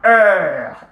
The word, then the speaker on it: heure: The la has been contracted to L apostrophe because of the silent H and then followed by the voyelle.